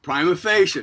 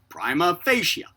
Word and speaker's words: prima facie: So I wrote comment, prima facie, normally pronounced prima with a long I as in pie, followed by a short A, and then facie with